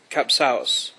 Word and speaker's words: Kapsaos: I think the word should be Kapsaos, Mr.